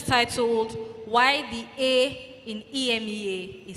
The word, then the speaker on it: EMEA: And I mean, I've tweeted something about it in the past, so I was like, EMEA, but the A is silent.